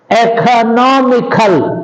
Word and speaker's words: economical: Economical, understand, on the anti-penultimate syllable or on the 3rd syllable from the end.